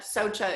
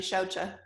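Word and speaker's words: śauca: reading through this and I just learned that Socha is actually xiaocha so I learned something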